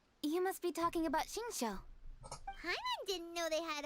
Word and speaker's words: Xingqiu: You must be talking about Xingqiu. Paimon didn't know they had a warehouse here. Oh, is that how you say his name? I thought it was Singtru.